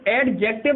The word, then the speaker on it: adjective: ठीक, ए और जे के बीच में जब भी डी आ जाए क्या होता है? वो साइलेंट होता है। तो एडजेक्टिव ना पढ़ेंगे इसे, क्या पढ़ेंगे इसको? एडजेक्टिव पढ़ेंगे। ठीक है, क्या पढ़ेंगे? देखो एडजेक्टिव। ठीक, एडजेक्टिव ना पढ़ के क्या पढ़ेंगे? एडजेक्टिव पढ़ेंगे।